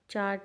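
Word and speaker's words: chart: चाट चार्ट में ये च की साउंड हमारी स्टार्टिंग में आ रही है। चार्ट आर फिर यहां पे साइलेंट है। देखिए आर को साउंड में नहीं लिखा जाता।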